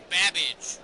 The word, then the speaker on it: Babbage: Your buzzer is the letter B as in Babbage, which is something that rhymes with cabbage.